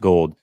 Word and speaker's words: Gould: Anthony Gould, spelled like gold, like Robbie Gould, but it's pronounced gold.